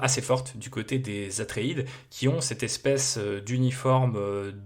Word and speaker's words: Atréides: honneur par Paul atréid les Atréides les atriidis si on le prononce à l'anglaise et potentiellement leurs alliés